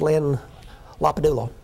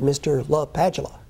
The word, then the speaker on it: LaPadula: Now, a number of people have mispronounced Len's name. When he grew up, he was Len Lapadula. He went off to college in the Jesuit called roll and said, Mr. LaPadula. And he liked it.